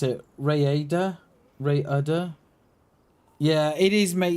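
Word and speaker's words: Rhayader: Rayada? Rayada? Yeah, it is, mate. Yeah, you got to roll your R's, you have. But yeah, it's pronounced Raider.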